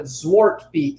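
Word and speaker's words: Zwarte Piet: Zwartpiet is how it's pronounced.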